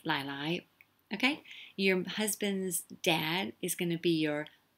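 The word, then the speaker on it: 奶奶: Okay, remember, get those tones right, because basically it's the same character, Lai Lai, but they're pronounced differently. The first one is low, Lai Lai, right? So Lai Lai, okay? And you'll notice there's an N there, but most people, they use L for N, so it's Lai Lai.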